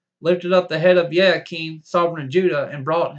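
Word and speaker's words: Jehoiachin: of the Exile of yakeen pronounced J Hakeem sovereign of Judah in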